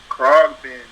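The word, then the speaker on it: Khruangbin: Krogbin. This shit is spelled weird. It's like KHRAUNGBIN, but it's Krogbin.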